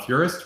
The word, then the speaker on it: Furest: Leo, uh last name is pronounced Furist, right?